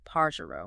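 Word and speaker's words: pájaro: but listen to this Paro meaning bird you hear how PA gets the emphasis oh wow yeah you're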